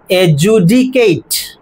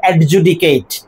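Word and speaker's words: adjudicate: এমনটা এজন তারপরে পাচ্ছি এটা ডি বাদ গেলে কি হবে এজুডিকেট এজুডিকেট কেট নয় কেট ওকে সি এটিই কেট ওকে এজুডিকেট এজুডিকেট নট এডজুডিকেট অলরাইট প্রথম চ্যাপ্টার ক্ষেত্রে এভাবে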